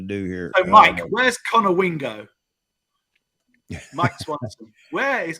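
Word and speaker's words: Conowingo: So, Mike, where's Connor Wingo? Mike Swanson. Where is Connor Wingo, if that's how you pronounce it?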